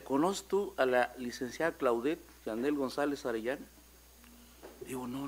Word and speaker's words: Claudette: Claudete, ¿se pronuncia Claudette? Así es. Claudette.